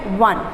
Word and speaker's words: won: Children, इसका pronunciation है 1. क्या है, इसको प्रोनाउंस करते हैं 1.